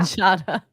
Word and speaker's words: Giada: What do everybody know when you say Giada De Laurentiis? What is it? Oh, I said her name wrong. Yeah. Giada.